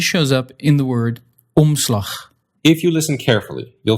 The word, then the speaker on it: omslag: You'll just let it affect the vowel. It's on rather than o. But you won't bring your tongue or lips all the way into that N or M position. You'll just skip that and go straight to the next sound.